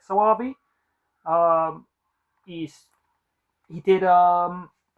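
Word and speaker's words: Soavi: by um Michel swvi I think you pronounce it saabi um he's he did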